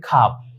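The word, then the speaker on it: خواب: সঠিক উচ্চারণ হচ্ছে খাব।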